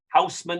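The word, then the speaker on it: Haussmann: of louis bonaparte is eugene osman houseman is his english pronunciation and ousman engages in urban renewal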